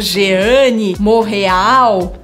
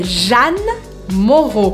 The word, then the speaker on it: Jeanne Moreau: Esse monte de letra vira um outro som, então eu não falo Jeanne Moreau, é Jeanne Moreau. Como se Jeanne se escrevesse J-A-N-E. Jeanne Moreau. Duas vezes o som O.